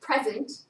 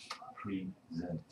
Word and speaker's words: present: Um, so what's the difference between this and this? Present. Present. Right. So repeat after me. Present. Present. Okay. Present. Present. Present. The meaning is different.